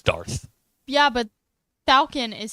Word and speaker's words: Darth: DQ, do you think it's Dark Vader? It's Darth.